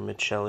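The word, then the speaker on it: Michele: gucci's jewelry and what alessandro mckelly or mitchell if you want to pronounce the ecclesiastical um i really am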